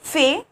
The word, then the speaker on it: fais: T, so it become fais. Pronunciation is same, fais, fais, fais, but there is a difference of spelling, letter, S and T, okay.